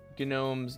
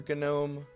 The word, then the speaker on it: GNOME: i sorry gnome's Nautilus which you could pronounce that gnome or gome uh it's not associated with the Gano project at all um but I think it's just like by habit you see a g in Linux land and you're like hm I'm going to pronounce that so yeah n all